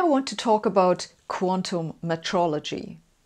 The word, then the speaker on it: metrology: to talk about quantum metrology metrology is one of the most undervalued areas of science and no I'm not just mispronouncing meteorology I actually mean metrology think meter not meaty or metrology is the